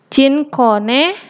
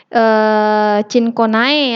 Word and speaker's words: Cinchona: Contohnya Cinchona cortex. Ya, ini bacanya bukan Cinchonae ya. AE ini dibaca E.